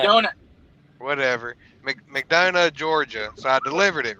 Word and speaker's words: McDonough: Ohio, and it delivered in, how do you pronounce it? McDonough, McDonut. McDonut. whatever, McDonough, Georgia.